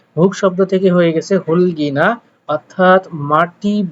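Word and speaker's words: 흙이나: এই রোলারের কাজ কি আপনারা যদিও জানেন, তারপরে একটু যদি খেয়াল করেন, বলছে হুলগিনা, দেখেন এখানে আসলে উচ্চারণটা হওয়ার কথা ছিল হুক, কিন্তু যেহেতু মূলত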